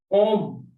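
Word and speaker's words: homme: Om. Om is man. This H is silent and O is O.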